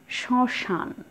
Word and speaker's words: শ্মশান: তারপর আছে শ্মশান, মফলার উচ্চারণ কিন্তু নেই, শুধু একটু নাসিক্য উচ্চারণ হবে।